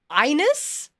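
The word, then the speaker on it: Einus: Inus. Inus. It's spelled e i n u s.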